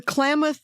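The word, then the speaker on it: Klamath: you know out west the clamo river is spelled k l a m a t h they they are opening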